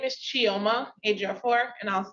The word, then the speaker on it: Chioma Ejiofor: Last name is spelled Ejiof as in Frank. Just like it sounds. Yes. Yeah, very phonetic.